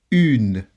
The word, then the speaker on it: une: Une. Une. Une. Okay? The sound of the U or the letter U is different. You don't have this sound in the English language, but you can produce this sound.